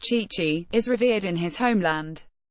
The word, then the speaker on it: Tite: Adena Leonardo Bacchi, better known as Tite, pronounced Chichi, is revered in his homeland.